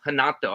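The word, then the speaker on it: Renato: uh rato Mo moicano hanato actually because he's Brazilian you don't you don't pronounce him ours uh versus Drew Dober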